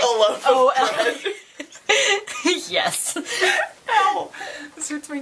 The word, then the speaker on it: Olaf: Like, when I read Series of Unfortunate Events, I pronounced Count Olaf Count Olof. Even though he's like Olaf.